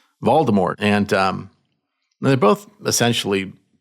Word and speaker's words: Voldemort: The T is silent. Voldemort.